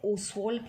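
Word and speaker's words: Ostwald: और वो मेथड है ओसवाल्ड प्रोसेस, OST, WALD और apostrophe S, ओसवाल्ड, T silent है, ओसवाल्ड प्रोसेस।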